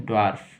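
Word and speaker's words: dwarf: ठीक है, ड्वार्फ, ड, सिर्फ ड, ड्वार्फ।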